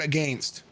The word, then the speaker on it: against: okay listen listen okay some of you hear the way that i say the word against okay that is the correct pronunciation that is occur that is the correct pronunciation okay answer me this if i told you that i was gonna go to the gym to work out so that i could g-a-i-n some muscle mass i wouldn't say hey